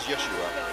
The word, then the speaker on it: Yeshua: me yeah I think you find it is Yeshua it's not yesu unless you read unless you read fluent Hebrew I believe you find is not Yeshua in terms of right